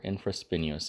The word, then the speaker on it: infraspinous: This muscle is going to originate at the infraspinous fossa, or infraspinous. I say spinous, it's not how it's spelled.